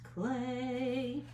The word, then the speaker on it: Klee: So I'm going to put Klee up here in the corner. Paul. It looks like Klee, but it's pronounced Clay.